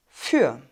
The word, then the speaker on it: für: wort für heute für für hier gibt es den langen umlaut wir dürfen also nicht vorsagen sondern für und das r wird lokalisiert